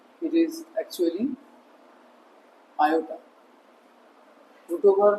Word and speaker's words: iota: It is actually Iota roo<unk> over -1 is denoted by I in which is a Greek letter and it is pronounced as iota.